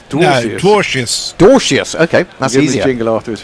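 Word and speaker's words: Dwarshuis: How would you pronounce it then? Oh, here we go. Dorcius. Dorcius, that's the one.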